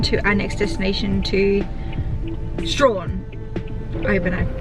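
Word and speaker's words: Strahan: um heading on to our next destination to strawn over but i pronounce it quickly we've done a quick pit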